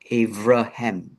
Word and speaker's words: Abraham: The B is actually a V sound, and that would be the same for Abraham. It would probably be Avraham or Avraham.